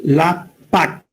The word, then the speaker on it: LAPACK: Pero en inglés se escribe la PAC o LA-PAC como de paquetes, de package.